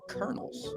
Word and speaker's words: colonels: from east Tennessee so I don't know if it's the Colonials or the colonels I believe that's the kernels oh man that's